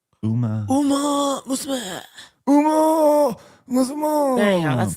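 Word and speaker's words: Uma Musume: Uma Musma. Musma. There you go. That's the proper pronunciation.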